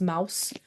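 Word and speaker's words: Maus: Mouse it's written M which is the German for Mouse it's pronounced Mouse um and it's because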